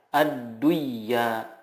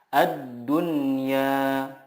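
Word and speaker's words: الدنيا: Contohnya, ad-dunya, tidak dibaca ad-duya, tetapi yang benar adalah ad-dunya.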